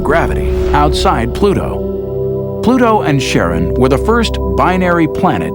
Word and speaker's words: Charon: in Greek mythology, but preferred to pronounce it Sharon, more like his wife's name, Charlene. From the motions of Pluto and Sharon, astronomers could work out